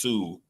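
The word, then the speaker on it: Hsu: I understood if Stephanie, I believe it's pronounced Sue, beat her because that performance was amazing.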